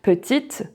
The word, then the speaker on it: petite: So every time you see this letter at the end of a word, it's never pronounced and you stop at the letter before, like petite, grande. So you pronounce the T and you pronounce the D, but not the E.